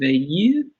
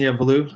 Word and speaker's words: Veilleux: Justin, I want to say this with a French accent. It's such a beautiful name, but I'm not sure that's actually how people in this country pronounce it. But I think the correct pronunciation is Justin Veilleux.